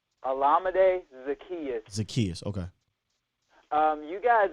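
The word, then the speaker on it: Olamide Zaccheaus: the saints how do you say his name olamide zacchaeus zacchaeus okay um you guys are great defensively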